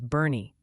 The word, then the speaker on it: Boerne: Boerne, Texas is Bernie, Meigs County, Tennessee is Megs, and Roane County, Tennessee is Roman.